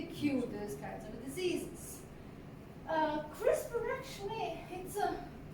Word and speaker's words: CRISPR: It really, you don't pronounce it as a CRR. You really say CRISPR. It's a crispy word.